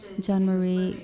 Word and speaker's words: Jean Marie: Anyway, Jean Marie, is that how you pronounce it?